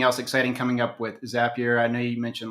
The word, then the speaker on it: Zapier: zapier in there so zapier where you're always happier if you're doubting how to say it just rhymes with happier h-a-p-p-i-e-r i can say